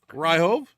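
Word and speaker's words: Ryjov: here of uh daniel ryhov r-y-j-o-v i want to say that do that for one is insane the jay is silent i think he probably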